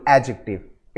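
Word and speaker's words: adjective: शब्द एडजेक्टिव है ना इसमें डी साइलेंट होता है इसको हम प्रोनाउंस करते हैं only एडजेक्टिव इट इज एडजेक्टिव इसका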